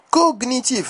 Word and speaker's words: cognitif: Toutefois, dans certains mots, les lettres G et N se prononcent séparément, comme un G suivi d'un N.